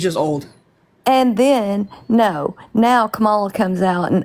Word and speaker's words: Kamala: It's not hard to say someone's name correctly. It's Kamala Harris.